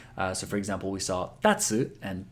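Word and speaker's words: たつ: Now, here, it also means kite, and it's pronounced exactly the same way, taco, because sometimes the stress will change. So for example, we saw tatsu and tatsu.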